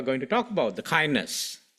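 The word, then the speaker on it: KINDNS: So it is pronounced as kindness and that's the full sort of expansion of the acronym.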